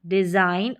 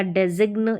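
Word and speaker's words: design: साइन डिजाइन और रिजाइन तो ऐसे रेजिग या डेजिग्न या सिग्न इस तरीके से आप इनको प्रोनाउंस नहीं करेंगे इनका उच्चारण नहीं करेंगे तो इनकी ही आप प्रैक्टिस कर सकते हैं यहां पर जी इन स्पेलिंग से कॉमन स्पेलिंग है सामान्य स्पेलिंग है इनका अधिकतर प्रयोग होता है इस्तेमाल होता है उच्चारण देखें साइन डिजाइन और रिजाइन यहां पर जी के बाद में एन है और जी जो है साइलेंट रहता है ऐसे स्पेलिंग्स में तो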